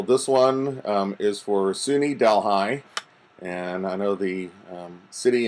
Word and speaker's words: Delhi: I found so this one is for SUNY Delhi and I know the city in India is pronounced Delhi but believe it or not in upstate New